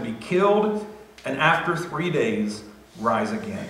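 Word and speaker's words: δεῖ: the English its Dei in Greece it's pronounced day and that word literally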